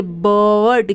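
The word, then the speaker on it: bird: है उसी तरीके से बी आई आर डी तो यहां पर भी आई है उसके बाद आर है तो आई को हम अ पढ़ेंगे बर्ड क्या पढ़ते हैं हम बर्ड उसी तरीके से सी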